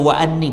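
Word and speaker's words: وأني: Ini bacanya wa anni bukan wa anna. Wa anni itu ya bukan alif. Alif apa itu namanya? Bukan alif bingkeng. Jadi ya antum pakai titik dua ya. Bukan alif tapi ya.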